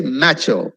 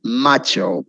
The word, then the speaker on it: macho: person is called nacho i used to say macho and they used to make fun of me it's macho i still remember very